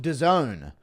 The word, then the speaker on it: DAZN: It's pronounced DAZN. Sounds like some hood nightclub that Happen Ace might frequent. DAZN.